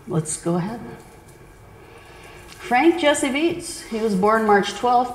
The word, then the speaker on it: Viets: in ashtabula county ohio he was of german ancestry so that's the pronunciation of his name the ie in german is an e sound his father rodney beets